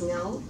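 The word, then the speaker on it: Ngau: My last name is Niao, a little hard for people to pronounce.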